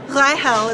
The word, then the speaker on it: Reichel: And at the same time, I found out while I was in college that my last name, Reichel, in the Polish pronunciation, translates to Rachel, which is what I use here, is actually Jewish in origin.